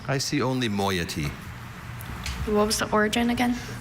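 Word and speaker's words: moiety: Are there any alternate pronunciations? I see only moyety.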